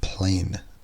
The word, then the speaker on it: plane: e on the end generally speaking in English an e changes the vowel sound before it's so plan PLA n has an R sound but the e on the end changes the are two an a and now we have plane plane plan the next one